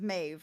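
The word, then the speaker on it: Medb: I saw was spelled m a DB but pronounced mave or Mau maybe but I heard mave when I listened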